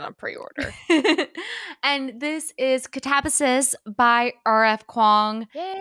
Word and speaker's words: Katabasis: Kuang, also known as Katabasis. If you were following us at the beginning of the year, that's how everyone was pronouncing it. And then someone was like, actually, in Greek or like ancient Latin, this is how you'd pronounce it.